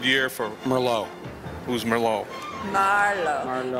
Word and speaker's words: Merlot: Merlot a good year for Merlot who's Merlot Marlo accent I'm the first syllable Marvel for the red wine I can pause 95 96.